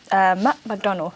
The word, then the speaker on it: Macdonald: his new role at Macdonald. I think that's how I pronounce it. I don't want to pronounce it as McDonald's because it's not McDonald's, but yes, it's a big company.